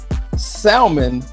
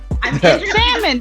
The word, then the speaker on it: salmon: you salmon or salmon salmon like with the l i do pronounce it why is the l